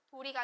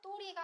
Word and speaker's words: 도리: 그래서 할 도리가 아니라 할 또리가 된다.